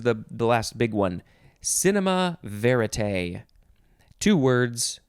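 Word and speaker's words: cinéma vérité: cinema verite two words cinema is cinema and then the next word is v-e-r-i-t-e with an accent on the last e that goes down on the left side and up on the right side cinema i guess with the accent you have to say cinema verite you could also just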